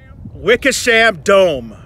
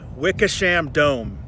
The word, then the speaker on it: Wickersham Dome: Wickersham Dome. Wickersham Dome.